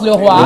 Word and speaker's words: Leroy: On prononce le roi, j'ai bien prononcé.